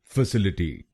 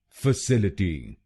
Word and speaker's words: facility: काफी लोग भारत में इस शब्द को गलत बोलते हैं, जैसे फैसिलिटी। आइए सीखते हैं इसकी सही प्रोनाउंसिएशन। इसकी सही प्रोनाउंसिएशन है फैसिलिटी। फैसिलिटी।